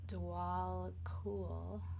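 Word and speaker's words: Djwal Khul: Dwell cool, Dharma unfolding. Remember that you are on a path. Take one step at a time to happiness. Dwell cool, pronounced Dwal Cool, known as the Tibetan, is a Tibetan Buddhist master.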